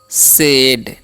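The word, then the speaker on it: said: लिखा है they both सेड, ठीक है। AY रहेगा ना, AI, तो उसका उच्चारण एकले कर देना है, ठीक है, इसीलिए हम सेड पढ़ रहे हैं, ओके।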